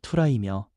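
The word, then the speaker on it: θύρα: 문이라는 헬라어 발음은 투라이며 우리의 마음과 존재 전체를 의미합니다.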